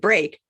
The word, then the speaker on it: break: But sometimes the E and the A make the long A sound.